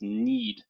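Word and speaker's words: knead: un fanatically just phonetically just pronounce it the way it's pronounced need like to need bread leaving Chi it's interesting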